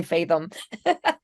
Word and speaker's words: Faethom: That's what a lot of people call us Fathom. I'm like, you know what? As long Yeah, as we're the only Fathom. Well, ending it with an E, it's still pronounced the same.